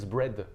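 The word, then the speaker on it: Braid: nom ce monsieur c'est James bread ça s'entend comme le pain sur ce que ça s'écrit Brid et ce James bread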